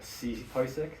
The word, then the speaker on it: CPParsec: So, my project is called C Parsec. That's how I pronounce this, even though there's a second P in the middle.